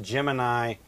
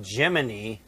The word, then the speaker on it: Gemini: Now it's supposed to be pronounced Gemini, like rhyming with your eye, but everybody started calling it Gemini, like ending with the joint in your leg, your knee, or sounding like Jiminy Cricket.